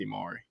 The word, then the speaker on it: Amari: he said his name and he said Amari. So that's what I'm going with now. Okay. But I've had people tell me both up until then. So now I'm rolling with Amari. Gotcha. Okay. Spelled like Emory though, so I don't know. You never know.